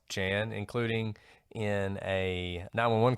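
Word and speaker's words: Geanne: Jan Meyer's house now Jan's name is spelled like Gene it's g-e-a-n-n-e but I've heard it pronounced Jan including in a 911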